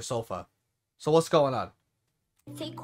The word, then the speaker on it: Sofya: up and today oh she actually said her name Sophia that's how I used to say her name but then everyone calls her sofa so what's going on